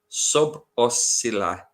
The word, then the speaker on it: Szoboszlai: This is how you pronounce it, apparently. Szoboszlai.